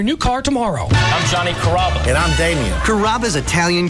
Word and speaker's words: Carrabba: Growing up, people always had a hard time pronouncing my name. People chop it up pretty good. You know, Carrabba, Carababa, Caramba. It's a really easy name to pronounce. It's Carrabba.